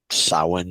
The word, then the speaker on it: Samhain: we wanted to do a small segment about Sawan so grab a couple of your favorite and let's have some fun so saw one pronunciations do vary a bit but Sawan as I'm saying it even though it seems